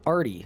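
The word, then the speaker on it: Ardougne: I just call it arty so that no one gets mad at me. Like I think technically it's like ardoing. But I ain't I ain't doing all that.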